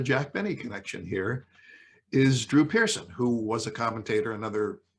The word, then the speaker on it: Drew Pearson: talking about that's right drew pearson and mispronounced the name and then it became this kind of running joke about how he couldn't pronounce the name correctly and so forth and